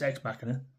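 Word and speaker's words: Ex Machina: How do you pronounce it? Me and my wife have arguments all the time about that. It's Xmachina.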